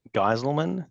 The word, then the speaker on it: Gijselman: And my name is Gijselman. That's how you pronounce that.